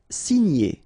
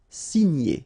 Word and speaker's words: signer: Signer, okay? G and N together, gn, gn. Signer, signer.